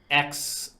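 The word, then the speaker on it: X Æ: I did see that bit of news, but XAE, even though I think the AE is pronounced Ash, A -12.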